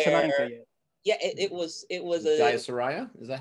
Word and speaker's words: Jayasuriya: Yeah, it was Jayasuriya?